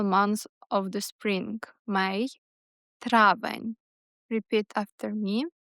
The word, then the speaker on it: травень: And the final month of the spring, May, травень. Repeat after me. Травень.